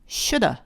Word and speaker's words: should have: should have 이거를 빨리 발음하면 should have 하고 of를 should 뒤에다가 살짝 붙여주시면 됩니다. should have. 그런데요, should have 얘를 더 빨리 발음하게 되면 shoulda, 를 갖다 끝에 붙인 게 되죠.